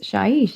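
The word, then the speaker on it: Shyish: Shaish is Shaish. Hey, I got it wrong. To rhyme with sheesh. Shaish, sheesh. If you are from here, you are a Shaishan and likely dead.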